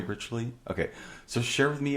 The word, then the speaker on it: Ritually: Did I pronounce it Yeah. correctly? Ritually.